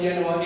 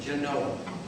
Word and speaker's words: Genoa: We know it's Genoa, Italy, but they pronounce it Genoa.